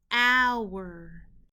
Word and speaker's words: our: the sound spelling patterns o u makes the owl sound the word is our alrighty friends it's your